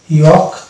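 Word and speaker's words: yolk: যেমন এই যেটা এ এল কে আগে ভাইল আছে এ, তাহলে এটা এল সাইলেন্ট হয়ে যাবে, অর্থাৎ এটা হবে টক, অনুরূপভাবে এটা হবে চক, ওয়াক, ইয়ক, ফক।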